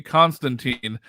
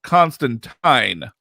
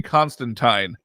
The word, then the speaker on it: Constantine: So apparently, when Alan Moore created him, it was not supposed to be Constantine. The name was supposed to be pronounced Constantine.